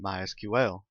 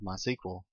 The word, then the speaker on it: MySQL: As you can tell, I've been calling it MySQL. That is the correct pronunciation. However, it is also commonly called MySQL. If you hear it called that, don't be confused. It's the same thing.